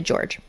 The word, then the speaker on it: Jorge: But I just want to clarify that so anybody's like, "Oh, actually it's J O R G E. Jorge." This is how he liked his name pronounced. He liked it George.